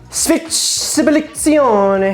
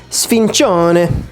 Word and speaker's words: sfincione: Sfizione. How do you pronounce that? Sfincione.